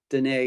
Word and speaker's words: Dynee: spelled d-y-n-e-e but it's it rhymes with renee so if you just think of renee danae it makes it real